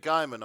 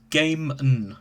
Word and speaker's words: Gaiman: himself on twitter so is it guymon or gaming apparently it's pronounced game so neil gaiman oh well okay i